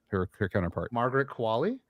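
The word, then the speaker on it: Qualley: the young actress's name her her counterpart Margaret Kali Kali thank you both those two played amazing off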